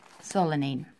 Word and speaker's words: solanine: they contain something called our company kind of pronounce it so salon it so so let mean set solanine which is an alkaloid I'm gonna set alcohol